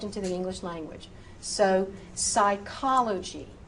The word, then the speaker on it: psychology: If the PS is at the beginning of the word, say only that S. And again, you know these words. These words have crept into the English language. So, psychology, psychology.